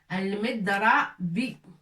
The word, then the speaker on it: المضرب: Il est au milieu du mot, il nous faut سكون pour qu'on prononce الض. المضرب.